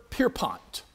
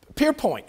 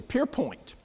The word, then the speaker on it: Pierpoint: i had fun trying to learn how to pronounce this follow it stop stanford pierpont pierpoint excuse me pierpoint uh and he wrote it at the age